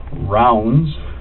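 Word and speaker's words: Ravnsborg: But it's pronounced rounds, like a round circle, Okay. berg, like an iceberg.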